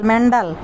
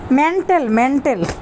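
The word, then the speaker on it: mental: ও কিয়া জানি কয় তিশারে এনিমিয়া কইতাছে এ হয়েছে মেন্ডাল পাবনাতে যাই ওই মেন্ডাল হয়েছে ওরে মেন্ডালে দিয়ে আসতে হইব। তিশা কয় মেন্ডাল না মেন্টেল। দর্শক মেন্ডাল না, এনিমিয়া ভুল বলছে, মেন্ডাল না, শুদ্ধ উচ্চারণ হয়েছে মেন্টেল।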